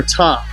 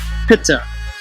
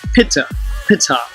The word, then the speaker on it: Ptah: of the deity called Ptah, or Ta, if you use the silent P, Pitta, which was phonetically pronounced Pitta, and I'll portray how